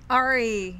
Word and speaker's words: Ari: And we want to share with you right now Roth's conversation with, do you pronounce her first name Ari? Ari.